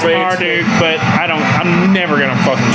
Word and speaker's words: Marduk: Dustin says Marduk. Yeah. And that's the proper way to say it, but I'm not going to say that. Yeah. I say Marduk.